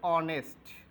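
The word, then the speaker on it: honest: আমাদের এখানে এই শব্দটি উচ্চারণ হচ্ছে অনেস্ট, তার মানে এখানে এইচের উচ্চারণ হয়নি, হয়েছে ভাওয়েলের উচ্চারণ।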